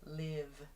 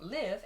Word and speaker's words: live: Live, L-I-V-E, can also be pronounced live. So that V sound I talked about, where you use your vocal cords, plus that open I sound, live. So like a live performance, for example. So you need to pay attention to the grammar of the sentence to understand if it's live or live as well.